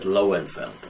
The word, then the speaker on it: Lowenfeld: And I asked, this is a long shot, but did you ever hear of Professor of Löwenfeld, of Victor Löwenfeld, or as they pronounce it, Lowenfeld, okay?